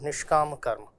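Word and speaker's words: niṣkāma karma: The dot below s makes it a sh and the line above a makes it a longer pronunciation of a of a as a. So it is called nishkam karma.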